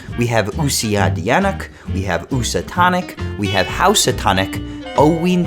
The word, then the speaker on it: Housatonic: in and labeling things their ears interpret usia dyanuk as usatonic but hold on because according to some historians it actually was meant to be pronounced more like housatonic but actually also know because an even earlier spelling went oh we antonak meanwhile on the connecticut